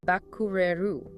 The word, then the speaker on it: バックれる: Moving right along to Bakureru. The pronunciation guide is Bakureru.